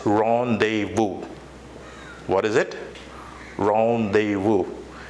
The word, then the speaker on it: rendezvous: what is it rendezvous isn't it weird that I've been like the work we just appearing over there it's not actually sounds the way it is appearing yes it is so the pronunciation of this term is rendezvous and you know the